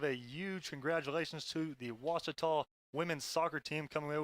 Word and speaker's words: Ouachita: oh a cheetah oh back in texas everybody pronounces it wichita but really it's ouachita washington how would you pronounce it it's washita baptist university get it right it's watertall people